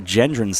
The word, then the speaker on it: Gendron: See, I don't see where Gendron's that tough, but everybody wants to go with the hard G for whatever reason.